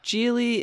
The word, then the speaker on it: Gigli: married JLo met Ben Affleck on set with Gigli am i pronouncing that correctly sure then maybe nobody saw